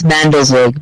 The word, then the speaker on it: Mandelzweig: Yes, and to pronounce it, it's Mandelzweig, but you were very close.